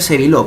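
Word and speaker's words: Sébileau: Se escribe Sévilleau, pero se pronuncia Sévillot porque es francés.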